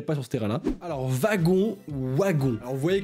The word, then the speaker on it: wagon: W se prononce comme un V, y a pas de débat.